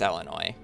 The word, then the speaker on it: Illinois: the joke though because people who see the S want to pronounce the S but you don't pronounce the s and that's why it's the joke of me saying Illinois why write the S